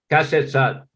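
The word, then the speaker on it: เกษตรศาสตร์: Not Kshetra Dharma Shastra, Kshetra Shastra. Kshetra Shastra. But they're pronouncing Kasetsat.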